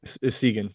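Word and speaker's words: Essegian: And the Connor Segan, how do you say his name, Jim? Segan. Yep.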